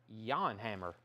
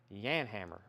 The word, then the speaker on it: Jan Hammer: inch single promo copy jan hammer is pronounced yawn hammer yan hammer who i don't know